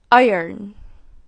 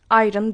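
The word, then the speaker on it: iron: ediyoruz wednesday wedday wes değil wedday Bunu nasıl telaffuz ediyoruz ir ir İron değil Bun ilk öğrettiğim hocam nasıl olur ya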